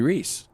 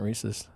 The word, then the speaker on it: Reese's: In Canada, they just call it Reese. It's not Reese's.